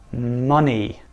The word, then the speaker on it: money: of the time money money this has a you instead of an O in the pronunciation just watch out young